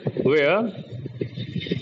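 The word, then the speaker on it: where: हु, हुम, हुज, ठीक है, हुज, विच, वेयर, वेयर नहीं, रा को silent, वेयर, वेयर, व्हेन, वेयर, व्हेन, why, what, ठीक है।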